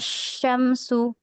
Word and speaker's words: الشمس: Tapi hati-hati ketika pengucapan shin, kalau hanya tidak ada tasydidnya jangan asya, tapi sya. Karena di sini ada tasydid atau adalah alif lam syamsiyah, maka agak ditahan ya, Khat ya.